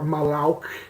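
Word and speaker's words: מלאך: Like, well, the word angel in this is malak, or malauk is how it's pronounced, but it right.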